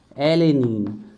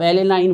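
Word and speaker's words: alanine: पी से है phenyl एनेलीन, phenyl एले, ध्यान रखिएगा, एले, एलेनीन। आप एलेनाइन बोलिए, कोई दिक्कत नहीं। तो देखिए कम से कम हमें स्टार्टिंग का वर्ड तो पता चल गया, VIP, वेलाइन, आइसोल्यूसाइन और फेनिल एलेनीन, है ना, फेनिल एलेनीन।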